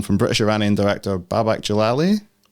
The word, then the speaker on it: Jalali: British Iranian director babak jalali is it jalali or Jal oh you did it is it J jalile like Galilee yeah so you the emphasis always on the last syllable okay Jal Jal baback